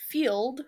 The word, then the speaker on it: Feeld: And then I also use Field, which is one that is specifically for non monogamous relationships. And that one is spelled FEELD.